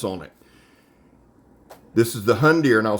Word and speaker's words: Hundr: This is the Hundr, and I'll spell it for you again, H-U-N-D-R Campax.